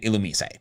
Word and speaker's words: Illumise: Are y'all just mad that the official pronunciation is Illumise and not Illumi?